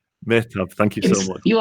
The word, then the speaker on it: Mehtab: Now, I probably haven't pronounced that correctly, have I, Anil? Mehtab. Mehtab, thank you so much.